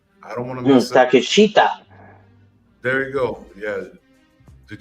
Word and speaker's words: Takeshita: I don't want to miss Takeshita. There you go. Yeah. Did you say take a shit? Yeah, Takeshita.